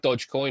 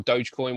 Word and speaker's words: Dogecoin: and useless uh like dodge coin or dogecoin whatever whichever way you want to pronounce it um i will just